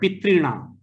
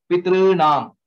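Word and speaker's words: पितॄणाम्: Similarly, Tr, Tr, so it is not three or through. Okay, it is somewhere in between. I mean, if you want to see that way. Pitrinam. That's how the pronunciation will be.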